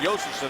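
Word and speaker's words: Josefson: Behind the net for Ruutu, out here with Josephson as well, or Josephson as it's pronounced.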